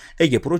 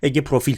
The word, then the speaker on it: Ege Profil: iki şirket olarak da Ege Pro çıkıyor Ege profil çıkıyor daha doğru telaffuz etmek gerekirse fiyatında bir düzeltme gerekiyor